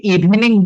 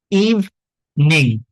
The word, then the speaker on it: evening: ইভনিং, ঠিক আছে? Good ইভিনিং, এই ইটা আমরা উচ্চারণ করব না, ইভিনিং বলবো না, ঠিক আছে?